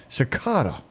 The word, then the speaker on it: cicada: Cicada. Thank you, Bob. Not crickets. Cicada. Yeah, That's how you pronounce it.